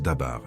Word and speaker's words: dabar: Cette parole est en hébreu, elle se prononce dabar, écoute bien. D A B A R.